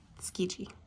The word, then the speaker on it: Tsukiji: I just looked it up and I did say it wrong. It's Tsukiji.